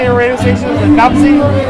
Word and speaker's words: Knomsai: Knomsai? Knomsai Radio.